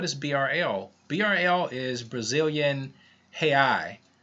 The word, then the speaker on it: real: BRL is Brazilian real, which is how it's pronounced in Portuguese, or in English it would be real, R-E-A-L.